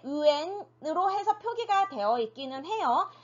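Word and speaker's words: 元: 일단 소수점 이상 왠지 수학으로 치면 자연수일 텐데 어쨌든 네, 그것을 읽을 때 우리가 yuan, 네, yuan이라고 읽어줄 수 있고요.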